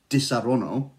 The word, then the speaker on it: Disaronno: to say it properly you have to say it properly if you're not saying it like this di sarono you've got to have the hand movement hand movement is key you say it without